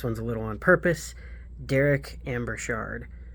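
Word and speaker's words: Darrak: a little on purpose Derek Amber Shard it's d-a-r-r-a-k Amber Shard so it's probably like the rock or something but um for some reason I I think Derek is better first wave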